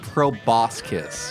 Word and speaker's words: proboscis: It's pronounced proboscis.